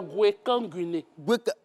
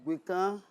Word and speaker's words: Gbekanguiné: C'est Gwekanguiné. D'accord. Gwekanguiné. D'accord. Moi, j'ai dit Gbekan. C'est ça, mon cher, allons-y. Gbekan. Gwekanguiné. D'accord.